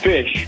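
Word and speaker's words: ghoti: i o d i tell me how you pronounce that uh jody nope jihody nope foodie nope it's fish oh okay because gh can be an f the i in women and and the sh in constitution i learned something new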